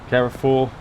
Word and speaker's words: Carrefour: We're also carrying, we're doing a delivery for Carrefour, and that's how you pronounce that, with the Swartz Muller trailer, so quite tidy really.